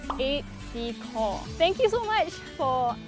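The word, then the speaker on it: aide-de-camp: pronounce A.D Kev well a lot of people think it's 8B camp but because it's a French word it's eight Decor thank you so much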